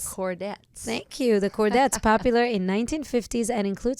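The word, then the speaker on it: Chordettes: songs of the original and how do you pronounce this the cordet thank you the cordet popular in 1950s and include songs from the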